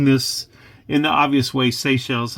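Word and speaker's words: Seychelles: the obvious way sells I used to call this sees because I also liked Achilles and whenever I would read Greek and Roman stories and there was Achilles in there Achilles is spelled in a similar way where the CH uh has the C sound so you can forgive my youthful exuberance I hope whenever I mispronounce SE shells as saes anyway you have your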